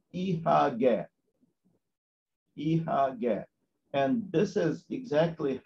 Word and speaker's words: Ihagee: The abbreviation IHG in German is pronounced as Ihagee.